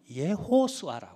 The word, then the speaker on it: 예호슈아: 이름인데 발음이 아니에 히브리스 히브리식 이름으로 발음으로는 어떻게 부르면 예호슈아 이렇게 부릅니다 그러면 예수를 히브리 식으로